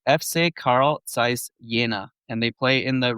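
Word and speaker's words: Carl Zeiss Jena: Is that FC Carl Zait Shaina? Am I close on that, Scott? Your German pronunciation here.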